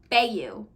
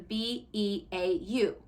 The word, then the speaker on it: Beau: first read this book I called the ex-boyfriend in this Bayou because it was b-e-a-u and I thought like beautiful you know like beautiful um no it's Beau so if I pronounce